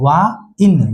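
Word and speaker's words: wine: इ तो आया है इ अपना कुछ नहीं करता है तो वा इन ये क्या हो गया वाइन वाइन का मतलब शराब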